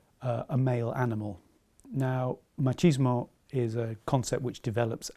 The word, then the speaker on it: machismo: with just about pronunciation the word machismo comes from Spanish and in Spanish the pronunciation would be machismo the word's been adopted into English and one will hear different pronunciations most people say machismo but one or two people will say machismo I'm not sure where the pronunciation M kismo comes from uh but it is something